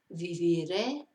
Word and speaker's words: viviré: So viviré, vivirás, vivirá, viviremos, viviréis, vivirán. So see where the stress is in that on the last syllable because of the accent.